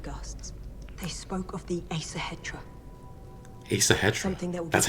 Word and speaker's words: Æsahættr: across some cliff guards they spoke of the asa hetra he's the hedgehog that's how you pronounce it it's between winning and losing find